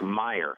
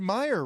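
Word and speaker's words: Mirer: I always pronounced it Rick Meyer.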